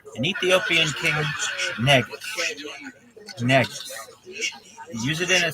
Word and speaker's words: negus: The word is negus. An Ethiopian king, negus. Negus. Use it in a sentence. A negus is an Ethiopian king.